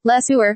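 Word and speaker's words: LeSueur: Louis B mayor that her last name Le SE reminded him of a sewer Smith organized a contest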